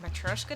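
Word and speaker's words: matryoshka: My Matrica dolls, which I think is actually supposed to be pronounced Matroska dolls or something like that, but I've always said Matriska dolls because that's how my mom pronounced it, were from a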